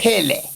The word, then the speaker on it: Phele: Pelle.